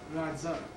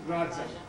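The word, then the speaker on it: राजा: And even in India today, like the word for king is Radza, okay? Radza. And it's the correct pronunciation.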